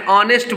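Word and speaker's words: honest: है यू आर एन ऑनेस्ट बॉय तो ऑनेस्ट है तो एच जो है साइलेंट हो जाएगा अ होगा तो इसके पहले किसका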